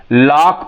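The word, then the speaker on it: lock: जैसे एओ सी के एल ओ सी के लॉक पढ़ते हैं सी यहां क्या हो गया हमारा साइलेंट हो गया लॉक पढ़ते हैं यहां आप देखेंगे accent A एस सी ई एन टी तो एसेंट या सी साइलेंट हो गया ये ई जो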